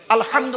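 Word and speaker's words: الحمد: আলহামদুলিল্লাহি রাব্বিল আলামিন আলহামদু আলহামদু এই গলার ভেতর থেকে হেটা উচ্চারণ করবেন আলহামদু মানে হচ্ছে সমস্ত প্রশংসা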